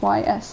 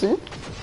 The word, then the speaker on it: Ys: you know, I think my first thought is YS and not Izu. But yeah. And then technically if they want to pronounce it that way, then they should do Izu and not Is. Because that Is is actually not the right pronunciation, it's Izu.